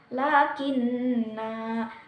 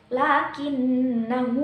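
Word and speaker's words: لكنا: Nah, di sini jika diwaqaf maka dibacanya panjang lakinna, tetapi jika diwasolkan maka dibaca pendek lakinnahu wallahu rabbi wala usyriku bi rabbi ahada.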